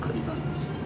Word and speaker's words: Clittibons: That's how it's how to pronounce it. Clittibons.